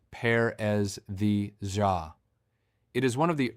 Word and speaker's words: paresthesia: The clinical term is paresthesia, pronounced paresthesia.